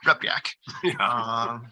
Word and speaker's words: Repiak: Not too bad. Two syllables, Repiak.